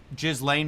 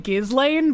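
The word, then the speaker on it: Ghislaine: that he met with Jizlane Maxwell and he said I I've always pronounced her name Gizlane, but I like how he says Jizlane because it it just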